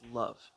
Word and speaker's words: LOVE: hands on, increasing their level as they go. Um, actually, it's not pronounced level. It's pronounced love.